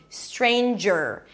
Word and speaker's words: Stranger: So it's not stre, stre. Strain, and then you close it with an n. Strain. The next syllable is jur. Jur. You start with a j sound, and you move it directly to the r. Jur. Jur. There is no vowel in between. Stranger.